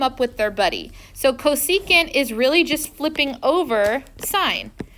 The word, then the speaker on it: cosecant: when they're shortened so don't say for this that is cosecant don't say SEC this